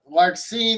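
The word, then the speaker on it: Larxene: Larcene. Yeah, that's how you say her name.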